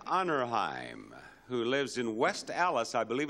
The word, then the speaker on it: Allis: I got a letter from Harriet Onnerheim, who lives in West Allis, I believe it's pronounced, A-L-L-I-S, Wisconsin.